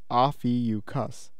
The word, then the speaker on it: Ophiuchus: man grabbing a serpent and it's pronounced off eu cuss just as complicated as